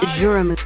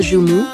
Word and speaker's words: joumou: Il existe plusieurs prononciations pour le mot jum en Haïti. Certains disent jum, d'autres jou. Cela dépend de la région d'Haïti d'où vous venez, mais le JM ou jumou, c'est tout simplement la